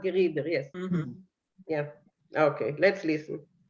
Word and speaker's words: Gerieder: have gerida rhyme with vida. That's what Vinkl does, of course. Yeah, he's doing the not geruder but gerider.